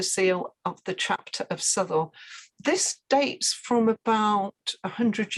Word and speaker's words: Southwell: sanctuary marie de souela an early pronunciation of sutherl i think rather than south wall as some people would have right the white book